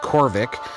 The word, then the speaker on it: Khoryv: I basically walked around the area and waited till it became nighttime, so then we could come back here to it's pronounced Khoryv.